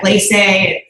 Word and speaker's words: Glace: bit hard to pronounce, and so we get a lot of glace or glace. So we don't care how you say it, but it is glace.